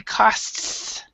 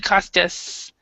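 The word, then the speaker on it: costs: you need to uh because there's no e here we would say cost cost so yeah so instead you said costus so there's a little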